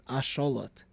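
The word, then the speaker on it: axolotl: Kind of like how the X in Mexico is pronounced the same way.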